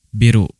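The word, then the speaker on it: ビル: jendela gedung hati-hati ya biru bukan biru karena hampir sama ya hanya pengucapannya berbeda biru agak panjang ya biru biru Sedangkan untuk gedung biru tidak panjang kisah teng Cafe Hong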